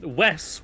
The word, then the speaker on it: Wes: Wes, which I've been told in the name pronunciation rhymes with piss.